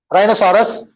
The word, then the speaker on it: rhinoceros: How do you pronounce it? Rhinoceros. Rhinoceros.